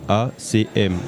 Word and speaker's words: ACM: ACM, A-C-M. Okay. Je prononce ça en anglais.